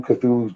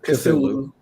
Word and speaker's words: Cthulhu: Did you ever see like the history, like who Cthulhu's grandfather and father are?